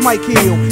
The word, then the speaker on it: Mykill: Your left slain, this pain has a first name, pronounced Mykill, and we both look the same.